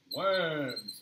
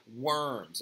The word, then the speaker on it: Worms: So the diet of Worms, it's actually not like Worms, okay? Worms is actually a city in Germany, and we're also not even pronouncing it correctly, right?